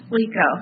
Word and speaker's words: Waco: I'm Waco. Yes, Waco. That's not what it looks like at all on the screen.